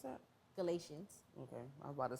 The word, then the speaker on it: Galatians: Galatians. Okay, I was about to say pronounce the T, like how you pronounce it in Artesia.